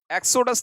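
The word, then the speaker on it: exodus: चलिएगा next word आ गया है एक्सेडस, एक्सोडस नहीं, एक्सेडस।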